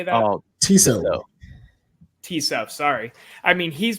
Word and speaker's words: Tissot: Oh, Tissot.